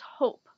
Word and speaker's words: hope: has a short vowel when we add a silent e to the end of it the vowel becomes long this word then becomes hope although these words look